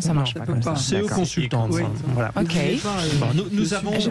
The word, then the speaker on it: CE Consultants: On le prononce à la française comme ça, Oui, c'est parfait. Non, ça marche pas comme ça. CE Consultants.